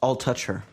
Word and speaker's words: Altucher: it iced teas and is pronounced all touch her don't touch her yeah yeah that's oh